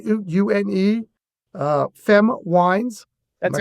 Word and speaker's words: Une Femme: Une, Femme Wines. That's am right. I pronouncing that properly? Yep. Une Femme Wines?